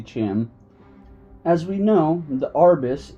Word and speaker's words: Chim: apologize if I've mispronounced Chim I've heard some people say Kim and some people say Chim I usually say Chim as we know the